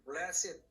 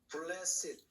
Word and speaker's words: blessed: 복이 있나니, 축복을 받았나니, 은혜를 받았나니, 그게 blessed. 요게 bless라는 것이 요 ed가 과거 분사면은 발음이 blessed 이렇게 되는데 이게 형용사로 볼 때는 blessed 발음이 이래 blessed.